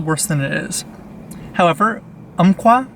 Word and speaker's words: Umpqua: However, Umpqua, I think is how you pronounce it, U-M-P-Q-U-A, crazy name.